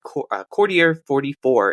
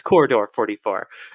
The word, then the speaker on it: Corridor 44: in there yeah or Corridor 44 excuse me I think I did the slightly more French pronunciation but it's Corridor 44 um and then continues